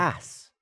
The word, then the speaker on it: arse: all the time and he just doesn't actually pronounce the R. What you're saying is Go ahead. ass. That's how you say arse.